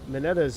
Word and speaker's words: Mineta: Mineta's Japanese name and Japanese pronounce how it's spelled. Mineta.